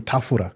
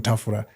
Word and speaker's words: Tafura: But everyone called him Tafura because in Zim they don't pronounce the L, or Shona, they don't pronounce the L. So they called him Tafura.